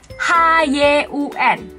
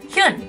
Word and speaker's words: Hyun: Seperti tadi yang udah aku sebutin di depan, ini yang paling banyak salah disebutkan adalah nomor 1, H-Y-U-N. Bacanya pasti Hyun, Hyun. Nah, yang benar adalah bacanya Hyun.